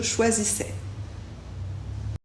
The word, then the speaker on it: choisissais: se prononce toujours e et le S à la fin on ne le prononce pas tu choisissais il choisissait